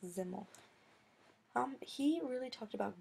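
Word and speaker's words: Simmel: his name is George zimmel pronounced ziml um he really talked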